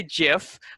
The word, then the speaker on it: GIF: the way um so some people say jiff uh uh like like the peanut butter um i prefer gif